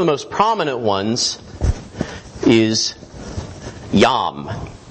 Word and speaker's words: Yam: One of the most prominent ones is Yam. That's how you'd pronounce it, not yam, like the vegetable, or the root.